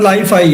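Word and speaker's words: Li-Fi: Leafy है या लाइफी, आप इसे क्या प्रोनाउंसिएट करते हैं जी? LIFI सर लाइफाई है, that is a latest technology of वाईफाई है, उसी तरह लाइफाई।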